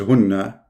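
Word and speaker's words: هُنَّ: Those two are the same word, hunna. In fact, the correct reading is hunna, not hinna.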